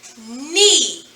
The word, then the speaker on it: knee: The first word is knee. E. Knee. Got two of them. Got two knees. Well, now we have three sounds if we do that, but we're not. We're doing knee. So the word knee is spelled K-N-E-E.